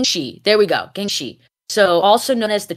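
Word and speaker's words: jiangshi: like they're called I'm G to try to pronounce it properly J Jen she she yeah Jang g g she there we go Gen shei so also known as the Chinese topping vampire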